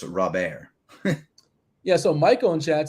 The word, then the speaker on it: Robert: article about how his name is so often pronounced wrong and it's rob ayer yeah so michael and chad says he's definitely